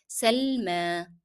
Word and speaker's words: سلمى: And here remember we are pronouncing yeah in Salma as alif because the preceding letter is carrying fatha. So you pronounced as if it is alif. Salma.